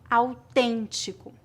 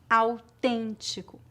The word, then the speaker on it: autêntico: médico médico América América se a vogal e tiver acento gráfico circunflexo ou Agudo mas for seguida pelas letras n ou m a pronúncia geralmente é nasal há variações de acordo